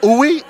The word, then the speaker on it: Uyi: I am Uyi, U-Y-I, on Instagram. And it's Uyi? Uyi. Uyi. Yes. All right, Uyi.